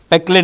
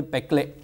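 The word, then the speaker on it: Péclet: dA by UL, okay, Peclet number, that T is silent. So, say Peclet number, okay, the very famous number.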